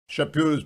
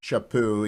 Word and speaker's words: Chaput: of the morning you ought to go get shapu's book it's spelled c-h-a-p-u-t charles shapoo is the archbishop emeritus of philadelphia things worth